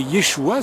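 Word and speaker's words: ישוע: on n' pas l'habitude de dire Yeshua mais Yeshua c'est le nom de Jésus en hébreu et c'est comme ça qu'on le prononce Jésus-Christ c'est une traduction ce qui a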